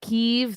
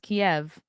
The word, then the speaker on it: Kiev: oh this has been bothering me too people pronouncing it keeve that's that's kiev you morons i don't know anything and that most things but i know it's pronounced kiev stupid msm has forgotten about china's bio weapon